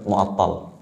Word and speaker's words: Mu'attal: Sofwan bin Mu'attil, walaupun dalam beberapa riwayat ada yang menyebutkan bacanya Sofwan bin Mu'attil, ada juga Sofwan bin Mu'attal, ya.